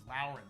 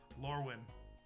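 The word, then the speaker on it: Lorwyn: See, I always thought it was Luren. Damn, I've been mispronouncing it this whole time. Lurwin.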